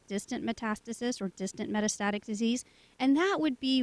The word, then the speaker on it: metastatic: to look at it metastic breast cancer metastatic very close very close you know and